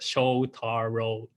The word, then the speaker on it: Shotaro: however my name is shotaro i know uh my name is a little bit wrong to pronounce and the true pronunciation is the show taro and uh i'm studying